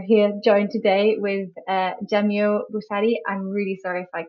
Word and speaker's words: Jamiu Busari: think you mispronounce um I'll say jamuari which is yeah Jam it's just where you you plac the emphasis okay Jam thank you